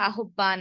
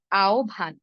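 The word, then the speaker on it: আহ্বান: কিন্তু নয় হ্যা যেমন ধরুন আওভান আভানকে আমরা আহবান আহবান এভাবে বলি এভাবে হবে না এর উচ্চারণ হবে আওভান কেন দেখুন আভান শব্দে হর ব সংযুক্ত আছে আমরা হও বলব না বও বলব না আমরা বলব ওভ যদি ওভ বলি তাহলে আওভানের সাথে একটি আকার আছে তাই আমরা বলব আও ভান একইভাবে গভর নয় কি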